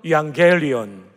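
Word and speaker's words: εὐαγγέλιον: 사용되었습니다 한번 따라 해볼까요 양 갤리온 여러분 발음이 굉장히 좋습니다 이왕 갤리온 두 단어의 합성합니다 유 좋다 복대다 안겔리온 소식이죠 그래서 여러분 스트레스 가운데도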